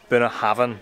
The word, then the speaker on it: Bunnahabhain: So we're going to go for a tour of Bunnahabhain, that's how you pronounce it, Bunnahabhain Distillery.